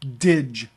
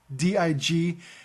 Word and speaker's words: dig: And the most common cardiac glycoside is, the generic name is Lanoxin, but everybody uses brand name digoxin, or DIG. D-I-G. It's not pronounced dig, it's pronounced dig.